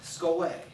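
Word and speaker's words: σχολή: And he talks a lot about this Greek word, skole, is what that word is. That's how you pronounce it.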